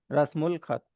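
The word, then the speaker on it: رسم الخط: pronounce करेंगे उल अल नहीं pronounce करेंगे उल प्रोनाउंस करेंगे रसमुल खत दूसरा एग्जांपल मलिकुल हिंद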